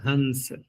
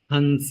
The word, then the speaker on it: हंस: तो देखो उच्चारण करते समय इस प्रकार के जो शब्द होते हैं वहां अगले वर्ण का प्रभाव पड़ जाता है। अगले वर्ण का प्रभाव पड़ जाता है। अब अगले वर्ण का प्रभाव क्या पड़ेगा कि स हो रहा है। दंत से उच्चारण स का। तो अनुस्वार का भी उच्चारण दंत से होने लगेगा। लिखने में अनुस्वार ही आएगा। हंस हंस ऐसा लगेगा आपको कि नकार बोल रहे हैं।